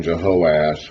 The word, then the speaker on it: Jehoash: But to make it simpler, we're calling the northern king Jehoash with 3 syllables, and the southern king Joash with 2.